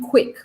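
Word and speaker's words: Kwik: And this guy is called Jim Quick. Okay. And funny enough, you pronounce it quick, but he teaches you how to learn quick.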